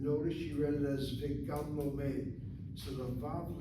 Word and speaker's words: וגם: If so, then it should be ugam, but she read it correctly as vigam. הוא גם No. You read it correctly, vigam lomed.